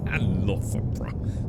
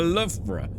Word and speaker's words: Loughborough: Loughborough. It's spelled L-U-F-B-R-A. I like that. Loughborough.